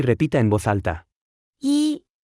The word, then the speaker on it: 一: 一，一，一，一，一，一，一。 Se pronuncia con el primer tono.